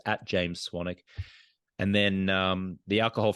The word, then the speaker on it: Swanwick: on Instagram at James swannick they spill well not they I spell my last name s-w-a-n-w-i-c-k so it's got a silent W in there so it's at James swannick and then um the